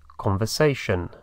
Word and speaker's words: conversation: con el sonido sh conversation competition invitation sh y se escribe esa última parte t i o n pero se pronuncia shen y otra vez oímos